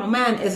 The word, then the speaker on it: Omani: You can pronounce it well. U. Not U. U. Oman. A person comes from Oman is Omani.